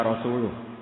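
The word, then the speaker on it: رسوله: Wa rasulih juga tidak ngurus Rasulnya. Kalau sama Rasul saja tidak ngurus, apalagi sama kita. Sama Sayyidina Ali dibenarkan, yang benar bacanya itu wa rasuluh.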